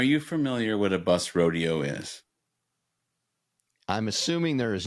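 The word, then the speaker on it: roadeo: It's spelled R O A D E Oo. Like a rodeo. Like a rodeo. Like rodeo.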